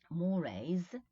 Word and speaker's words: mores: Mores, look at the pronunciation, mores, which is customs, conventions, right?